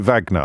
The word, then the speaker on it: Wagner: um uh the vag how do you pronounce it Wagner vag yeah you do Vagner I was to pronounce it like the composer I was want to say Vagner anyway the leader of